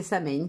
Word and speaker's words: Samhain: Je crois que c'est Samhain qu'on dit.